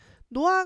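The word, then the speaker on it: 놓아: 노아 같은 경우에는 노아라고 하는 글자가 히어탈락이 일어나면서 노아라고 하는게 일어나요.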